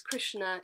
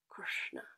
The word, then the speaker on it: Kṛṣṇa: it much softer resonance the n is also pronounced with the n with the tongue pointed towards the roof of the mouth and then we mustn't